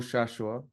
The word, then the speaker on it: Shashoua: But can you say it for everybody so we hear the correct pronunciation of your name? We can try to say it properly. Yeah, so it's Samuel Shashoua. Shashoua.